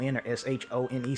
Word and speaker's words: Xion: It's spelled like, it's spelled Xion, but it's pronounced like Shion or Shone, something like that, but I just say Xion.